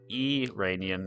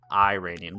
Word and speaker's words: Iranian: It's pronounced Eranian, not Iranian.